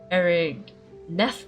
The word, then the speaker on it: Erigneth: The proper pronunciation of the name should be Erigneth of Aramorica, in the language of the people of bygone times.